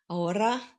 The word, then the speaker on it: Aora: Aora, if you roll your R's.